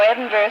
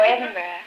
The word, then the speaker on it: Edinburgh: from Evelyn Evenston Illinois no edenburgh Scotland oh edenburgh Scotland HH no Edinburgh oh Edinburgh well then I'll go